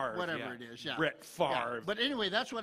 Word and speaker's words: Favre: Favre.